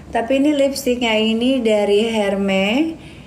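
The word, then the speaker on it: Hermès: Tapi ini lipstiknya ini dari Hermes. Tapi pronounce-nya itu Hermes.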